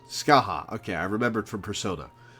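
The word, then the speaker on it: Scathach: That's how it's pronounced, right? Yes. Scaith.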